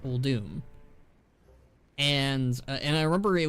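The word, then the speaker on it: Uldum: of the things that I always pronounced uh wrong apparently was oldum uh it's actually pronounced old doom and and I remember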